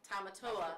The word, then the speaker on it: Tamatoa: Is it Tamatoa? Yes. That was That's Tamatoa.